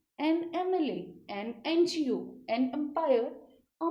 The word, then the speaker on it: MLA: But when we pronounce this word collectively, MLA, the first sound which comes with our throat is M, A, So again, this is vowel sound.